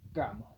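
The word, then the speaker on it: kamu: Sí, recuerden que todas las letras cas eso debe utilizarse como suena la c de casa.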